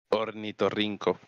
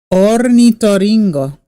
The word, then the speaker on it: ornitorrinco: Ornitorrinco. Ornitoringo. No, rinco. Rinco. Ornitorrinco.